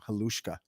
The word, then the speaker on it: Halushka: Halushka.